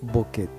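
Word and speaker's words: bokeh: un término de origen japonés en el uso de la fotografía llamado boket y se pronuncia boket y significa desenfocado esto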